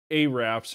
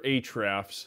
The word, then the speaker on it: Ahrefs: Now, if you use Ahrefs or Ahrefs, I think it's pronounced Ahrefs.